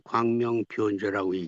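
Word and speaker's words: 光明遍照: 읽으시는데 네요 편자는 편이라고 쓰고 변으로 읽어 주시면 좋겠어요. 예. 해승 변지 광명 편조라고 쓰고 광명 변조라고 뜻이 예.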